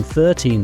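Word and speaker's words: thirteen: stress Falls watch this in 13 the stress is on the second part te in 30 stress is is on the first part thir practice with me 14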